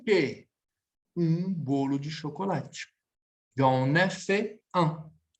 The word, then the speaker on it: j'en ai fait: J'en ai fait un. Pronuncia aqui comigo. Oui. J'en ai fait un. J'en ai fait un. Ligação, j'en. Liaison, d'accord? Contração, elision, elisão, j'en. Ligação, j'en ai fait.